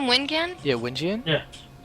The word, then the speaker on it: wiNgiAN: wiNgiAN? Yeah, wiNgiAN? Yeah. wiNgiAN.